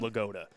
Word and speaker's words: LaPorta: That's his birth certificate name, Sam Lagoda. That's how you pronounce it.